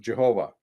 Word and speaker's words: Jehovah: For thousands of years, Christians called God's name Jehovah, until the scholars later came up with, oh, that's not how it's pronounced, that's pronounced Yahweh.